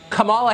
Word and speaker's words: Kamala: um host on Fox her name is pronounced comma like the punctuation mark La comma okay seriously I've